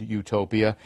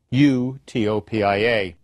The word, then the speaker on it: utopia: Eutopos and utopos, good place and no place. To an English reader, they both become utopos.